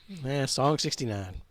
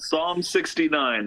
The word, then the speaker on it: Psalm 69: One that none of us can pronounce. Song 69. Yeah, it's called Psalm 69, The Way to Succeed and the Way to Suck Eggs.